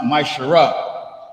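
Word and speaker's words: מעשר: and Malachi 3 8-10 it means the 10th in Hebrew and pronounced myar 10% of every penny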